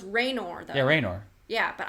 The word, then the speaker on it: Raynor: No, it's Raynor though.